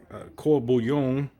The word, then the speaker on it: court bouillon: court bouillon bullion now the french will said cor bouyon okay and uh we also have the louisiana way of